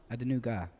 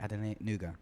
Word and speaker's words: Adenuga: You heard that tune by Julie Adenuga and Called Reuben. Spherical. Called Spherical. Is it Adenuga? No. Adenuga. What? Second name. Just say it. Julie Adenuga.